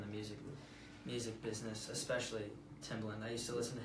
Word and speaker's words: Timbaland: Backstreet Boys old geezer Timberland no I know it was Timbaland I just didn't pronounce it properly so that's pretty cool